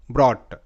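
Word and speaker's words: brought: ও ইউ জি এইচ টি অট ব্র অট ব্রট ব্রট এরকম করে পরবর্তী শব্দ শর্ট এস ও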